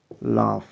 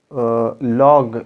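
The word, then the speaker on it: laugh: अच्छा, ये जो वर्ड है ये आपको लॉग लॉग मतलब ऐसा नज़र आ रहा होगा, लेकिन इसका प्रोनाउंसिएशन है लाफ। ठीक है, ये ऐसा आपने बोल देना है, लाफ। ठीक है, इसका सही प्रोनाउंसिएशन यही है, लाफ।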